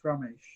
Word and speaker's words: Ramesh: I don't know how do you say your last name oh gosh Ramesh Rama SHhhh okay yes so